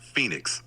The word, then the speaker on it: Phenix: do you pronounce that it's pronounced Phoenix just like the city in Arizona all right we we